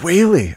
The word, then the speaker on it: Whaley: Frank, Wally, how are you, sir? Good. You can say Wally, but it's actually Whaley. Oh, it's Whaley.